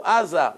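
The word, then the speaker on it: עזה: How do you say Gaza in Hebrew? Aza.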